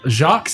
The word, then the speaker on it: Jacques: Um, Jacques Day.